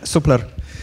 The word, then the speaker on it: Supler: about supplier today yeah supler is the correct pronunciation okay so basically yeah